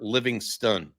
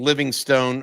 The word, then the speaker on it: Livingston: One is um people have been asking us how to say the name properly and that's Parker Livingston. So I've been saying Living Stone off and on for months because it looks like Livingstone.